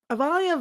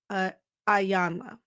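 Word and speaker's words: Iyanla: Is, as Avalia Van Zant always says, Ayanna, I mispronounced her name.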